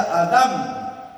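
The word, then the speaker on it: אדם: La palabra hijo en hebreo se escribe y se pronuncia Adam.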